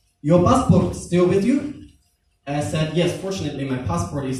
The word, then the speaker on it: Isa: I said, my official name is, but people also call me Isa. And I pronounced Ayn with perfect standard Arabic.